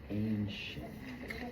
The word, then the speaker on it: ancient: So there's an A, sh, ancient. Okay? Now, for how it is spelled, you see how it's spelled differently? So now we have an A, and CI makes that sh sound, and then the ENT.